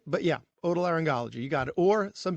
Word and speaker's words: otolaryngology: but you know not some people get the G the G wrong you know like a soft G like otolaryngology that's where they get hung up a little bit but yeah otolaryngology you got it or